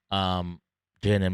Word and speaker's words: J Nel: Yeah, I'm here with JNL.